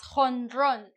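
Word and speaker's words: jonrón: football thing home Uh, it transferred as hon with a with a J. Hon, right? Why? Well, because as I said, the H in English has a sound that is more equivalent to the J in Spanish. So, home run became hon.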